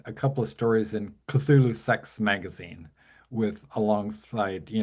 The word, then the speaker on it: Cthulhu: in um Cthulhu, Cthulhu, I don't however you pronounce it. Ramsy can. Yeah, it's Cthulhu.